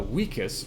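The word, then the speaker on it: vicus: The Latin vus uh wikus rather which means Village or habitation fun fact if you see a v in Latin it's pronounced like a w so uh Julius Caesar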